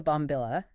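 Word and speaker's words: bombilla: of art almost exactly and then there's the bomil it's spelled b o m b i l a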